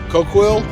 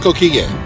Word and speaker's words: Coquille: How's that pronounced? Coquille? Coquille? Coquille? Coquille. Okay. No, it's Coquille.